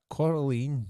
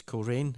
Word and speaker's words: Coleraine: The Malenko, is that Coraline? It's Coleraine. If it's pronounced the same as the place in Ireland, it's Coleraine.